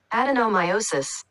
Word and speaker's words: adenomyosis: uh I digress here's the proper way to pronounce it according to Google adenomiosis atosis and now I'll slow it down for